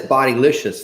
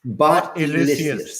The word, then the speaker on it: Bot-elicious: Yeah, Yeah, we got this bodylicious thing. Or is it bot-elish? Is that Bot-elicious. Bodylicious. Yes, Bot-elicious. Please pronounce my name properly. Bot-elicious.